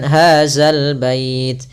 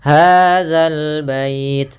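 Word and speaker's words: هذا البيت: harakat kemudian hadal bait hati-hati dalam pelafalan dza jangan sampai dibaca dengan hadzal bait sering terjadi kita mendengarkan huruf dalal diganti dengan Zai Ah ini kurang tepat dan bahkan bisa merubah maknanya hadal bait pada lafal alif lam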